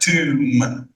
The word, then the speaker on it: tomb: tomb المقبرة بتتنطق كده tomb. be silent, tomb.